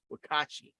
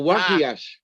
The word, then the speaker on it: Wakiash: Wakashi. Did I say it right? Wakashi. Well, I don't know. I wasn't looking at it. Oh, Wakiash. What? Wakiash. Wakiash.